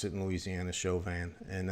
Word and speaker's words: Chauvin: chauvin i call him chauvin because that's how we pronounce it in louisiana chauvin and that's the proper french way of pronouncing it um so um derek